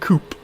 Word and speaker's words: coup: have left nii and Coupe or coup I suppose the p is silent so yeah I should